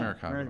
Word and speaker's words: Maracaibo: Says years ago lived in, oh my gosh, I don't know how to pronounce this. Maracaibo? Maracaibo? I think it's Yeah, Maracaibo.